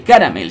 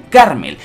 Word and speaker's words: Carmel: se ha confirmado que no es madre caramel sino que se dice y se escribe madre carmel Y esto es muy